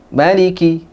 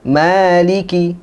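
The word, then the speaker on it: مالك: Nah, di sini dalam riwayat Imam Hafiz yang biasa kita pakai ya, qiraahnya Imam Asim, di sini dibaca 2 harokat. 2 harokat. Tidak dipendekkan. Bukan maliki, tapi maliki.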